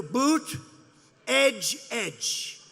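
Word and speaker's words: Buttigieg: touch and they said here's what you do boot edge edge say edge like the edge of a building edge edge Buddha judge Alfred e Newman you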